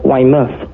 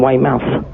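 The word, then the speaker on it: Weymouth: got told off my I pronounced uh Waymouth as Waymouth rather than Waymouth and they said I'm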